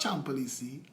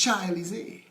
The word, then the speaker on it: Champs-Élysées: And in my mind, I pronouncing it how it's spelled, Champelisi. Well, everybody laughed at me that day. And I learned. It's not Champelisi, it's Champs-Élysées.